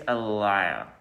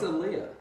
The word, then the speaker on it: Aaliyah: think it's Aliyah. It's Aaliyah. Aaliyah?